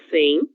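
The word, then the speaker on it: cem: 100. OK. Ainda que nós não tenhamos a letra I, nós lemos como se houvesse 100.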